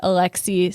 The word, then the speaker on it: Alexis: illiterate Canadian laborer named Alexis St. Martin. I love that name, Alexi. It is pretty. It's spelled like Alexis, but you don't say say it the Alexi. S. Yeah, it's a silent S.